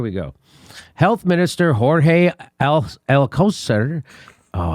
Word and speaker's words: Alcocer: Health Minister Jorge Alcocer. Oh, how do you pronounce that? Alcocer.